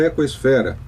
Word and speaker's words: Ecosfera: E você ouve aí no 95,7 FM, no 660 AM, nossa programação Desafios do Aquecimento Global, entrevistando aqui Luiz Fernando, lá da Ecosfera, falando para nós aí sobre os seus sonhos,